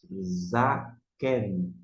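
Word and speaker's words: זָקֵן: Você vai pronunciar Zaken.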